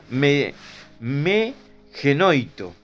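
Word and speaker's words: μὴ γένοιτο: Se pronuncia me genoito, que puede traducirse en una forma muy fuerte, ¿no?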